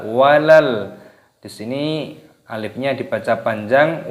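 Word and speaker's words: وَلَلْ: Di sini terdapat lam sukun dibaca walal.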